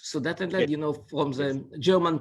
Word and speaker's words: Sudetenland: That's how you say it in English, Sudetenland, you know, from the German part of the Czech Republic.